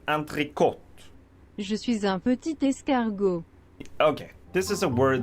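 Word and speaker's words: entrée: French maybe you're French this word is supposed to be pronounced anot because that's how it's pronounced in French or kind of anot is it pronounced like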